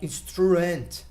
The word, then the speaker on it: instrument: So you don't say like instrument or anything like this. You say instrument. So you go, let's say loud, and then you go lower. So it sounds like this.